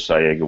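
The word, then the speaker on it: Saiga: I pronouncing that right because I hear it called Sega sayga techically in Russia I think it's SAA but everybody says sayga we all know what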